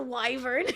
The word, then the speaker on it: wyvern: Anyways, not what's a wyvern. It's weaver. No, my sweet summer child. Oh, then just say it's a regional difference. It is wyvern.